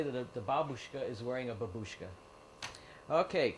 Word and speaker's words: babushka: grandmother is babushka babushka the accent is on the first syllable babushka but someone decided to